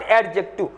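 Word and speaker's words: adjective: replace करता है एडजेक्टिव नॉट एडजेक्टिव D silent होगा इसमें से एडजेक्टिव व्हाट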